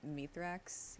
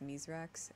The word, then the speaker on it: Mithrax: for some reason like everyone calls him meet racks even though his Fallen name is mise racks and they're like yeah